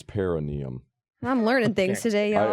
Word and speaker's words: perineum: in there you got pronounced perum it's perenium I'm learning things today